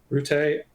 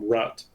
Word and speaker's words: Rutte: Rutte. I keep forgetting how to pronounce his name. I always want to call him Rutte, but that's not correct apparently.